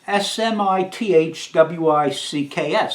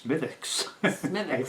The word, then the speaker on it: Smithwick's: is girlfriends yeah it's SMI th WIC KS so I said Smithwick's oh no no no what the Irish girl tells us she said the W is silent so it's mythix and this is an